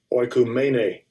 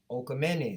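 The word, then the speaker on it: οἰκουμένη: Let's see how he pronounces it. Strong's G 3625. Oikumene. All right. It says the inhabited earth. The inhabited earth. Okay. The universe, the world. Oikumene.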